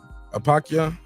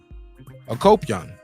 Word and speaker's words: Akopyan: Manuk Apakya? Akopyan.